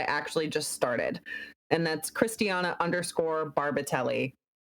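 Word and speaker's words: Christiana Barbatelli: And that's Christiana_Barbatelli. It's spelled exactly as it sounds, just don't add an H.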